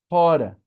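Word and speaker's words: ὥρα: Aqui também tem é assoprado e com acento, não é? Rorá, é rora que quer dizer ora, só que para nós o H é mudo. Então é a mesma forma aqui, hora, só que para nós o H fica mudo. A gente tem ele, mas fala ora.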